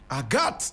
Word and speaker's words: Agathe: time yes will aat is AATA but in French we say aat a g a t